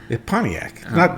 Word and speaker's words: Pontiac: And Pontiac. Pontiac. There's no T in Pontiac.